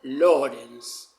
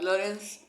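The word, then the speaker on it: Lorenz: observó muy bien Conrad Lawrence. Se escribe L o R e N Z porque es un Lawrence eh alemán, mejor dicho, austríaco, no es como Lawrence de Arabia, ¿no?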